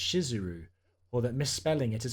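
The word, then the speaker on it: Shizuru: of the Goddess is actually spelled and pronounced shiseru or that misspelling it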